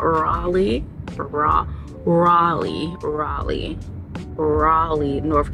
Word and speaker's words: Raleigh: okay first of all she told me that it's pronounced Raley and I've been saying Riley this whole time I feel like I'm still going to be slipping up saying Riley and not Raleigh ra Raleigh Raleigh Raleigh